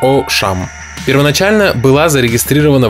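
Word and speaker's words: Auchan: chimes дословно высокие поля по-французски произносится как о шам первоначально была зарегистрирована в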